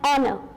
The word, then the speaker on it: honor: For example, an honor, right? While speaking the honor, H is silent over there and we are getting a vowel sound of O over there.